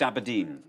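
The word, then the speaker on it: abrdn: life aberdeen has rebranded it's now called abdomen it's like no it's still pronounced aberdeen stephen bird uh is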